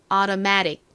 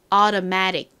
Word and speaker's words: automatic: auta 이렇게 발음이 되죠 이매 부분에 강세를 주셔야 합니다 따라해 보세요 자동의 automatic 한 번 더 해 볼게요 automatic 좋습니다 자이 단어 같이